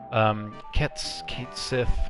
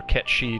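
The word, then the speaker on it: Cait Sith: Kate Sith, or Ket Shi, depending on how you want to pronounce it.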